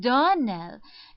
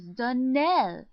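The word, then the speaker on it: Donnell: Clarissa Myra told me that you pronounced our name Darnell. Now, Miss Shirley, the correct pronunciation of our name is Darnell. Accent on the last syllable.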